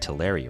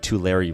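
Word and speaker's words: Tulare: I looked it up I think to you pronounce it to Larry right anyone from that area can let me know but yeah anyways over 100 two Larry residents reported seeing the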